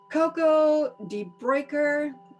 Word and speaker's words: Coco de Bruycker: So, as an actor and a voice talent, Coco de Bruycker rhymes with oyster.